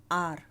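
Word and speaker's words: hour: Eight 60 miles N आर। तो यहाँ पर जो एच साइलेंट होता है, ओ की आवाज़ आती है, तो इसलिए एन आ जाता है।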